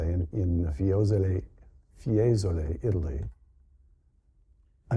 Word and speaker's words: Fiesole: Fiesole.